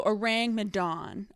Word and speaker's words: Ourang Madan: orangutan meets megalodon so orang madan and it kind of rhymes with like dong so like the orangutan